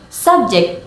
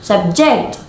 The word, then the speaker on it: subject: For example, subject with stress on the first syllable is a noun, and subject with stress on the second syllable is a verb.